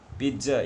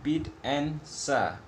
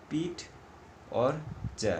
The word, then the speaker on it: pizza: Pizza, it is, please note the pronunciation, pit and sa, or we can say pit or ja, not pizza. It will be called as pizza or pizza, right?